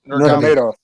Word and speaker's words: Nurmagomedov: Khabib Nurmagomedov.